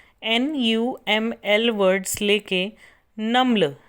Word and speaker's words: NUML: जैसे national university of modern language के NUML words लेके नम्ल, इसको प्रोनाउंस किया जाता है नम्ल।